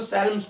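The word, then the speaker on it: Psalms: क्या है letter day इसको साल्म्स बोलते हैं पी साइलेंट होता है साल्म्स हाउ उससे अगला क्या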